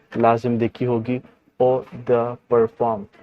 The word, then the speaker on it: eau de parfum: इसको कुछ लोग ओ द परफ्यूम भी पढ़ते हैं, बट ये प्रोनाउंसिएशन इसकी गलत है क्योंकि ये फ्रेंच लैंग्वेज है, इंग्लिश नहीं, तो इसकी प्रोनाउंसिएशन कुछ डिफरेंट होती है, तो इसको ओ द परफॉर्म पढ़ते हैं।